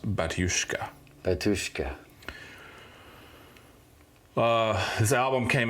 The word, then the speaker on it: Batushka: H their name the band name is called batushka b a t u s h Ka a but it's pronounced batushka batushka uh this album came out in 2015